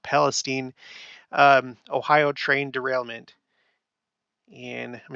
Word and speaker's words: Palestine: On the 3rd of February, the day after that, there was the East Palestine, I know it's pronounced Palestine, Ohio train derailment.